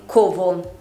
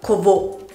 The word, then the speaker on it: covo: Per esempio, prendiamo una parola come covo. Non la pronunciamo covo, ma covo. L'accento cade sulla prima O.